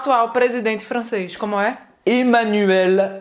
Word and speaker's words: Emmanuel: femmes aux audois toile président français comment est emmanuel macron emmanuel macron presta à pibrac a ajouté